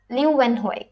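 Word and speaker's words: Leeuwenhoek: एंटोनी वान ल्यूवेनहोइक. देखो, अगर आपको ये वर्ड प्रोनाउंस करने में मुश्किल आता है तो इसे ल्यू को कट कर दो, वैन यहाँ से ल्यूवेनहोइक. ओके, आप ऐसे इसे कर सकते हो.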